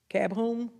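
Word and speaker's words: KABOOM: to I think is cab whom cab whom that's how you say it that we went to on Saturday the place we went with the girl well it's k a b h o o m all right because I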